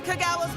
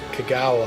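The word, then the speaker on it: Kogawa: That's Kagawa's whistle. This concludes our tour. Best hurry back. Pronounced it right, dickweed. Kagawa.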